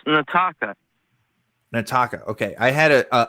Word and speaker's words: Nataka: Yeah, and it's pronounced Nataka. Nataka. Okay, I had a screener note that said Nataka with an L, but Nataka, I will remember that.